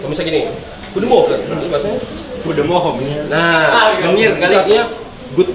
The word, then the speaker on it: goedemorgen: Goedemorgen. Gini, bahasa gini. Itu bahasa Belanda. Serius? Artinya good morning. Apa? Nah, bacanya goedemorgen.